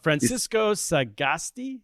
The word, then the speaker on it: Francisco Sagasti: How do I pronounce his name? Francisco Sagasti.